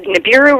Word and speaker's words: Nibiru: of her book is the belt of oion nibaru rising did I say it right that's that Nibiru Rising you've got it okay well I'd like